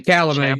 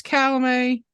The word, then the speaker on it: Chalamet: I think it's Chalamet, but I could be wrong. But that sounds bad. Either that or Chalamet. It's obviously the T is silent, but honestly, I'd probably put him up.